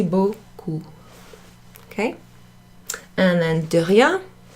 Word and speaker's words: beaucoup: together that's pronounced Oh Oh merci beaucoup okay not messy buku no merci beaucoup okay and and oh